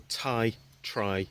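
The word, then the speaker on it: Ti-Tri: I said it wrong before it's called the tie try fusion tires in titanium try as in three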